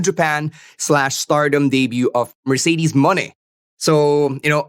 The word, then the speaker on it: Moné: stardom debut of Mercedes money so you know obviously it rhymes with money a play on her former ring name she now calls herself